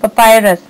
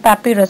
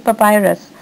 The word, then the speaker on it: papyrus: It's papyrus, not papyrus. So, okay, the pronunciation is papyrus.